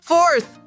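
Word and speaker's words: fourth: O som inicial é for, sendo necessário enrolar a língua na letra R. E para terminar, o que falta? Muito bem, falta a gente colocar a língua entre os dentes pra gente fazer o som do th.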